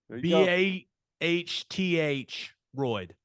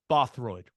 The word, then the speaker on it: Bothroyd: Bahth Royd. Bothroyd, right? That's what we're rolling with.